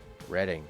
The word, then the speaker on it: Reading: Always a hard word to pronounce for North Americans. Gloucester? Reading.